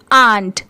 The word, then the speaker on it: ant: The brave आंट, ठीक है, इसे आंट भी पढ़ सकते हैं, एंट भी पढ़ सकते हैं।